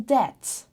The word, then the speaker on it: debt: in college 27 in debt in debt b is silent b in japan silence